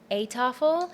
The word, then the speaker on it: Eettafel: it is like eten in Dutch means eating, so it's sort of like eating table where people come together.